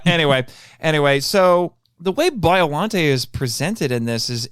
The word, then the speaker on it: Biollante: for is present and by the way I'm guessing that's the pronunciation we're agreeing on is biolante because that's what I say because what is it in the dub it's biolante which is what I said for years and me too and